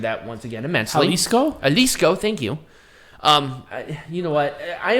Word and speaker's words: Jalisco: I butchered that once again immensely. Jalisco, thank you.